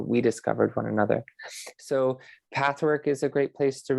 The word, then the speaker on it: PTHWRK: As you mentioned, I have a website called Pathwork. It's spelled PTHWRK.